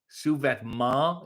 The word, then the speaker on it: sous-vêtement: Sous-vêtement is how it's pronounced. You just want me to say none of those letters.